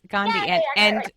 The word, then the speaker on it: Gandhi: pronounce his name wrong isn't that how I pronounce it do you know yes gandi yes yes and I think this is really